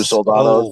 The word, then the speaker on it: Soldano: I'm one of very few Soldanos. S-O-L-D. I always want to put it S-A. Yeah. A lot of people misspell it, but it's Soldano. It's exactly how it's spelled and sounds.